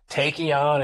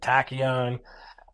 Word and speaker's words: Taekion: It's like, is it Taekion? Is it tachyon? And it's got the TAE is the phonetic spelling of a tachyon particle.